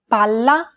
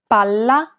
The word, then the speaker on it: palla: Imagine that you're holding that consonant sound for one extra syllable. Palla. Palla. Many learners do not hold the sound for long enough, so when in doubt, pronounce it a little longer than you would normally.